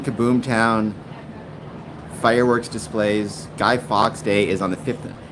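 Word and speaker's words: Fawkes: because you pronounce it fox. F AU. Uh, you pronounce it fox as in like the animal, which always seemed like a funny way to to pronounce it to me.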